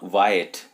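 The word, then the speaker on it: Wyatt: Petrarch साहब, sir Thomas वायट, इनका उच्चारण जो होता है ना वायट, वाई और एट से जोड़ करके बना है, सर थॉमस वायट।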